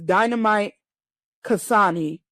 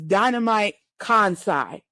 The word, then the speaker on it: Dynamite Kansai: But my match to watch for JWP is Hikari Fukuoka versus Dynamite Kasani. I'm sorry, I've been pronouncing her name wrong this whole time. It's Dynamite Kansai.